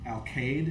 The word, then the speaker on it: Alcalde: Like the Alcade, is that how you say it? How do you say that, guys? Alcalde. Alcalde, yeah.